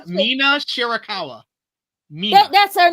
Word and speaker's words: Mina Shirakawa: Number 2 is Mercedes and Mia Shikawa. I said it right. Mina Shirakawa.